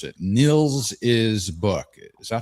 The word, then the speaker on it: Nils: knowing where to put the hospe, let alone pronounce it. Niels is book. Is that how to say it? Or Nils?